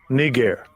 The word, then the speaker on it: Niger: This is thousands of years older than Niger, right? So what you think? Called the Black Man here, right? Now, the pronunciation will be argued, right?